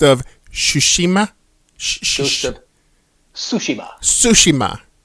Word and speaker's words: Tsushima: Tsushima. So I guess the T is silent.